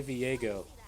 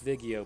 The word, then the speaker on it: Viego: Say Viego. No, that's Vigio, my friend. You never played with Vigio?